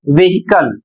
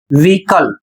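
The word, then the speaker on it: vehicle: और इसे अक्सर लोग पढ़ते हैं व्हीकल। जबकि इसका सही उच्चारण होता है व्हीकल और इसका अर्थ वाहन।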